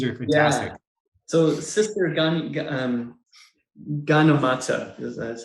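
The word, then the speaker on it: Gyanamata: So Sister Ganamata, that's how you pronounce it.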